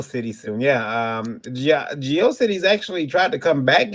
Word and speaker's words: GeoCities: i i i um i used to call it geocities rather than geocities i don't you know i haven't done rhymes with atrocities yeah that's what most